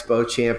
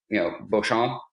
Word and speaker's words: Beauchamp: We talked in the beginning, and Paul had joked about Rex Beauchamp or Beauchamp, and you met that guy at